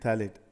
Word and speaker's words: phthalate: a cap which is cellulose acetate phthalate p is silent over here okay so i repeat